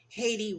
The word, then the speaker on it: Hayti: Haiti Raleigh is spelled Hayti.